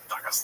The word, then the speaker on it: Dagestan: Now, it's actually pronounced Dagestan.